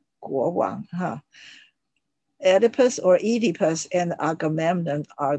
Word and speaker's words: Oedipus: would probably see king oedipus or pronounced as edipus huh oedipus or edipus and agamemnon